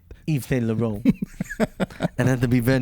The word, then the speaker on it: Yves Saint Laurent: Yves Saint Laurent. You have to say it like that.